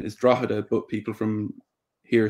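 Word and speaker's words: Drogheda: official irish pronunciation is drahada but people from here say drada and which again is linked to how you would have said it in the ulster dialect of irish you would have dropped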